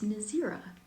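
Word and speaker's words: Nazeera: How do you pronounce Nazira? It's Nazira.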